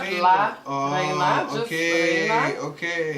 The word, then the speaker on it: La Reina: Am I saying it right? La Reina. La Reina. Yes. Hey, that's la ra. Yeah, exactly. You gotta roll the R.